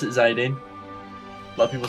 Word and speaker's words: Zidane: Yeah, I pronounce it Zidane. A lot of people say Zidane.